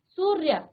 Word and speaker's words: सूर्य: वर्ण के ऊपर लगाया लेकिन इसका उच्चारण पहले करते हैं सूर्य य तो बाद में आया सूर्य सूर्य सूर्य ठीक